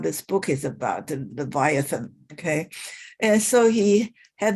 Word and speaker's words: Leviathan: famous book one of his famous books is leviathan i'm sorry i'm sorry leviathan that is a correct pronunciation okay this is a it's a monster